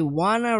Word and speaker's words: wanna: Percebam a junção do but I want to remind. Olha só como que ele fala. But I wanna remind.